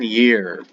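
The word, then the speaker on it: gēr: So the Germanic and the Scandinavian year. The Old Saxon word for year is spelled G-E-R, but it's pronounced year.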